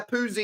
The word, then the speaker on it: Pusi: It's Pusi, guys. Yeah, Pusi is how you pronounce his name.